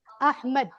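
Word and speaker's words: Ahmad: नाम ज्यादा काबिले तारीफ तो ये असल में प्रोनाउंसिएशन क्या होती है इस लफ्ज की अहमद ठीक है अहमद अरबी में हम बोलने में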